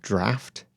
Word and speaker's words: draught: pronunciation of something they're saying the chat room that draught should be spelled draft ah it should be so I need to redo that draft yeah you heard that draft so then what does drop me let me say dropped means the game of checkers huh I would I would pronounce well I'm lousy with pronunciations obviously season two oh yeah the british spelling of draft it's like left yeah